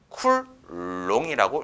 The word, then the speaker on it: 쿨롱: C고 쓸 것이다 자 요놈은 그러면 어떻게 읽습니까 이시는 쿨롱이라고 읽습니다 그래서 정확하게 다시 보면